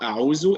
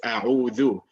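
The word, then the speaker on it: أعوذ: All right, it's not a'uzu, it is a'udhu.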